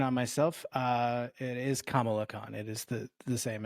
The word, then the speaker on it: Kamala Khan: great quick correction on myself uh it is kamala khan it is the the same as the vice it is pronounced yeah noted yeah i didn't wanted to